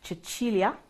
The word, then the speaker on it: Cecilia: are ladies hello my name is Cecilia which can also be pronounced chilia that is because my